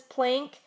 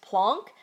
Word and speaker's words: Planck: Planck's constant now some people might call this plank or some people call it plunk I was just taught that it's pronounced plunk I don't know if that is just because